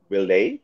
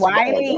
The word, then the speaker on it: Wiley: But, like, Willie, did I say it right? Willie. It's Wiley. Wiley Coyote.